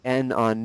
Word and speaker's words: non: I want you to put an X through the N on non, okay? No. Excellent. To remind yourself not to pronounce it.